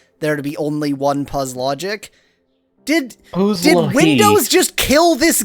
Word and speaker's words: Puzlogic: Hey, it's Puzlogic. Almost positive that's the intended pronunciation of that name.